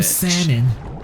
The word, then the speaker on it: salmon: just said salmon ass oh salmon see again phonetically inconsistent where did the l go your ass that's where